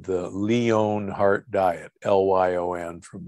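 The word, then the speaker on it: Lyon: disease study called the leone heart diet l-y-o-n from leon france most people know it as the lion heart diet because we don't pronounce it correctly so the the leon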